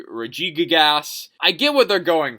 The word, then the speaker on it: Regigigas: Some have pronounced it Regigas. It could be Regigigas.